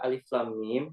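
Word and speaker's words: الم: Kak jadi untuk membaca Alif Lam Mim ya ini kan huruf kita bacanya bukan hurufnya lama bukan itu Alif Lam Mim kita bacanya itu Alif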